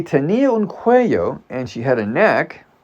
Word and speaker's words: cuello: I pronounced it cuello. It's cuello, like with a Y.